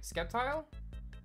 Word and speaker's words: Sceptile: got Blaziken Gap tile right skeptile that's how you say it Swampert swamp swamp or